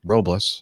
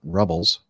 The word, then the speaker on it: Paso Robles: stop at Paso Robles he says pronounced Robles not rubbles yeah I know that